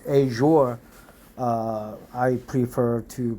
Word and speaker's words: Azure: Asia I don't know but many people say Azure uh I prefer to pronounce it Asia uh but Indians pronounce here a uh which is a little bit strange pronunciation but aure aure is correct pronunciation uh theoric oh as a